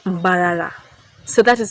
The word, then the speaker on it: Mbarara: So the colonialists could not pronounce the place of Emburara. They call it Mbarara.